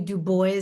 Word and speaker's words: Dubois: And we welcome Dwis to or is it pronounced Dub Boy? You can let me know. Uh we'll welcome you to Black All Matter TV. Well, I appreciate you. Thank you for having me. It's Dubo. Okay. Dubo, are you related to Web Dubo? I am not, but he is my namesake. So, I like to pronounce my name the way he pronounced his.